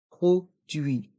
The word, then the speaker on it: produit: article un produit d'entretien dans le mot produit le U et le i font le son oui produit et le T est mué d'entretien les voyelles I